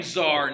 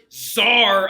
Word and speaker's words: Tsar: I am Tsar now.